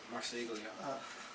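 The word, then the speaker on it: Marseglia: Yeah, Marsiglia.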